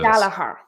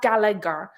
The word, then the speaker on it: Gallagher: It's pronounced Galahar. It's Galagher. It's not Gallagher.